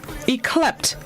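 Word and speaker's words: yclept: this morning's word of the day is eclect eclipt it's spelled y c l e p t eclipt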